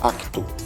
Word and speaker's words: acto: Esta palavra ato, em Portugal, fala-se acto.